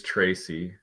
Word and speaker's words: Trese: enter you you pronounced I think it was the II at the end of the yeah it's a it's a funny pronunciation but it is Tracy Tracy Raja yeah yeah and